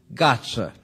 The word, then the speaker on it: Gatze: right but he continued you may call me as most who do not speak Dutch do Gaza so now you know how to pronounce his name francis Bacon's epigram is